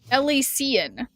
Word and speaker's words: Elysian: I feel like there's not quite that many syllables. Elysian. Isn't Elysian? Oh yeah, I see it now. 2 eyes, I got it.